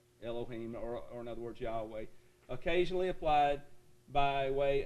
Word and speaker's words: Yahweh: so there's there's the father's name and we pronounce it uh yahweh all right now here's here's another word this